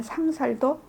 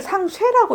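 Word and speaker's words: 상쇄: 쌓았다 하여서 그 죄는 상살도, 이걸 상쇠라고 읽죠. 이럴 때는 살이라고 안 읽죠.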